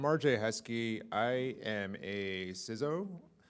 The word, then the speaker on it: CISO: I am a CISO. You say it like Lizzo, but obviously I'm not Lizzo.